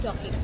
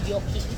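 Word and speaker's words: Jokić: I also like Jockey. Who's setting I'm mispronouncing. Ano bang tamang pronunciation nila? Jokic ata. Like Y. Instead of J, Jo, it's Y. Jokic.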